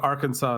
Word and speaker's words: Arkansas: And the answer is that Arkansas is the French pronunciation because it was a French territory.